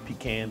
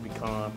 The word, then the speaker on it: pecan: Oak, hickory, some pecan if I can find it pecan pecon Yeah yeah All depends on which part of the South you from Exactly exactly is how they say it.